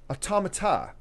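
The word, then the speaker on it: Autómata: I'm pronouncing that right um how is it pronounced automata automata okay um so look it up because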